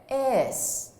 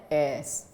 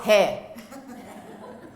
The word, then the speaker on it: heirs: said, guard against bad heirs. People who are going to inherit your property, the heirs. Not heir, huh? The bad heirs. Okay, and it's not pronounced hair.